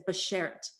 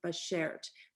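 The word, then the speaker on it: bashert: and i use which it says basher it and it's spelled out in english phonetically b a s h e r t by shared but sherrod is what's meant to be two souls come together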